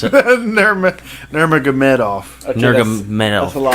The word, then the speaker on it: Nurmagomedov: Nurmagomedov is what I pronounce it. Nurmagomedov.